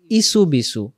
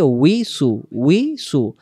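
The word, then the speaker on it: يوسوس: শব্দটা হয়ে যায় কি আমরা বলি আল্লাজিওয়াস ইসুবি ইসুবি নাই এখানে উচ্চারণ হবে উসু আল্লা আসসালামু আলাইকুম ওয়ারাহমাতুল্লাহ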